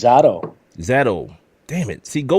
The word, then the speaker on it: Zadow: How you pronounce that? Zadow or Zadow? The first one, it's Zadow.